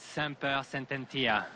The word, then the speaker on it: Semper Sententia: And here with her trainer, Rudolph, how can you help us pronounce this filly's name here? Yeah, her name is Semper Sententia.